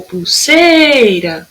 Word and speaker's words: pulseira: O pulseira, olha lá, o sei.